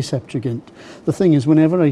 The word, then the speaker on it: Septuagint: bit of Greek, okay, I was told that a G was a G. It's a gamma, and it's a hard. It's not J, it's G. And so whenever I pronounce Septuagint, I say Septuagint.